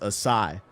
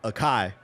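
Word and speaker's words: açaí: I just recently found out that this is pronounced aai. My whole life I've been pronouncing it akai.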